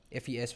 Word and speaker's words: FES: Fees was the one who wrote the lyrics. You pronounced it like the first half of festival.